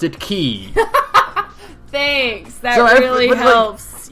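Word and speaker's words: χ-blade: going to pronounce it Key. Thanks. That really helps. Like, it's kind of weird because like everyone like in the game kind of puts a bit more emphasis on the K sound.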